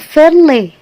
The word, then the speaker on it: fairly: Oke, kita baca dari atas, yaitu ini dibacanya fairly. Once more, fairly. Nah, kayak ini jangan dibaca I ya, fairly bukan. Tapi antara E dengan fairly, ringan gitu ya.